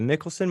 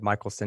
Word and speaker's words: Michelson: a second okay the Mickelson Morley test and you said it right the first time I think I said Michaelson it's Mickelson so you were right there Mickelson Morley test you